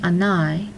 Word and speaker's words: anai: If a word ends in a vowel combination ai, it is always accented on the last syllable, even though it ends in a vowel. This ai together is pronounced I. An example of this would be the word anai, which means evening.